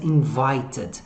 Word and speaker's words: invited: Para dizer que você não foi convidado, you weren't invited. You weren't invited. Invited. Olha o edzinho, como é que pronuncia no final das palavrinhas. Ó, invited. Nunca vai ser invited.